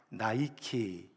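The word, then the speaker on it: Nike: 여신입니다 세계적인 스포츠 브랜드인 나이키 아시죠 여러분 나이키 나이키가 바로이 승리의 여신이 니케의 이름을 영어식으로 발음을 해서 만든 것입니다 승리를 상징하는 나이키이 니라는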